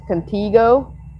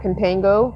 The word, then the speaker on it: Contigo: was pronouncing it wrong it's contigo not contango cuz there's no in at the after the I so I don't know why I was saying topango anyway contigo I'm sure you